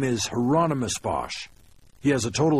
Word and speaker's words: Hieronymus: I said you said Hieronymus Bosch like the painter the second question confused him I don't know anything about any painter but that's his name rhymes with Anonymous I was told weird